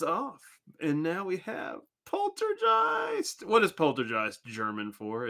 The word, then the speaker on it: Poltergeist: ghost that old polter gist of course is a German word and German's a language and it means things when it translates but sometimes the original words more fun to say and the only right way to say it is Poltergeist I said one the